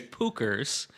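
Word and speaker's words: Puchers: I was just going to say it's Pookers and it's P U C H E R S.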